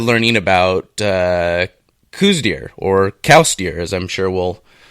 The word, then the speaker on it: Coues: about coues deer now I'm gonna say coos and it's see you ESS how you spell it the actual pronunciation you are correct it was named after a guy named Elliot cows who actually designated these